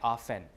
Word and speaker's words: often: And for ease of articulation, people usually drop the T, right? Often.